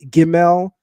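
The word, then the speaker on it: gimel: The hard pronunciation of the letter GL is a G is a G like give me like going. The soft pronunciation Sonetta is a J like Jamaica.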